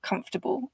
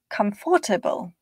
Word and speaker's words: comfortable: In English, they are pronounced with stress timing. So one of those syllables is pronounced more strongly than the other. Chocolate, vegetable, comfortable.